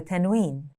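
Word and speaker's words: تنوين: Let's learn the tennwin. The tennwin can only happen at the end of the word, and it's basically a nun sound at the end of a word.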